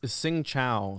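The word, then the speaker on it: Xin chào: Vietnamese is Sing Chao.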